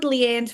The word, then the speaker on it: Liane: when and we'll do it fabulous to download Leanne's free resource five key elements of growing a